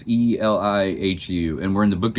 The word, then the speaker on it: Elihu: Today we're going to be talking about a guy named, all right, the way you say his name is Elihu. It's Elihu, and we're in the book of Job.